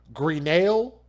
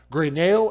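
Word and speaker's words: Grenale: up here this individual his name is green ale which is spelled g-r-e-n-a-l-e antonio hernandez or henderson excuse me i said her dad is grinnell antonio henderson who was 35 years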